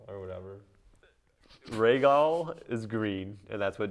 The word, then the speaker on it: Rhaegal: Rhaegal or whatever. Rhaegal is green, and that's what John's gonna end up So I was riding. right on that one. It's pronounced Raga.